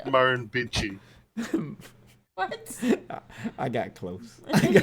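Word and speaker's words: Murrumbidgee: Oh, and that word that you were trying to pronounce there is Marin Bitchi.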